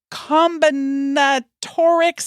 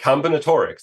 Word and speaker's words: combinatorics: for us correctly yeah you got it combinatorics it's like combinations almost okay and you have